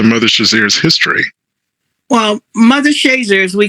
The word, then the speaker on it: Shazier: to this to mother shazier's history well mother shazers we call it here and some people pronounce this shazia but she we call the shazer she is